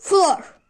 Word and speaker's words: floor: Arkadaşlar bunlarda iki o gelirse bunları u olarak okumuyoruz. Bunlar özeller. Bunları olduğu gibi okuyoruz. Door, floor. Şu ikisini ezberleseniz bile bu kelimeleri gördüğünüzde ha bu door floor değil. O zaman bu 2 o'yu u yapalım dersiniz. O yüzden bu iki kelimeye dikkat edin. Door, floor. Bunlar olduğu gibi okunur.